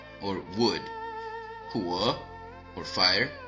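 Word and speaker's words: 火: Now, let's take a look at the pronunciation. The 5 faces are Mu, or wood, Huo, or fire, Tu, earth, Ting, metal, and Shui, or water.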